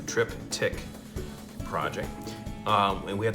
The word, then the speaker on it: triptych: to do a triptych trip tick project it's it's actually one word but it's pronounced like it's got two trip tick project um and we